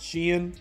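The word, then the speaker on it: Shein: shopping from lately called Sheen that's how I pronounce I just call it Sheen s-h-e-i-n those are basically the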